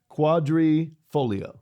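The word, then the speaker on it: Quadrifoglio: quadri is for okay and folio is leaf quadri folio yeah okay got it now I know how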